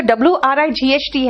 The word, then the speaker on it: Wright: इसका भी pronunciation राइट है, इसका भी प्रोनाउंसिएशन राइट है। ठीक है, आप सुनो ध्यान से। बेसिकली ये जो WRIGHT है ना बेटा, आपको